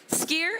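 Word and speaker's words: skyr: And what is skier? How do you pronounce it? Right? Probably have all these questions. I did too. Once upon a time, skier is Icelandic for a yogurt.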